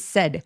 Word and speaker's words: said: 그리고 and said 말했다 할 때 길게 발음하시면 sad 슬퍼요.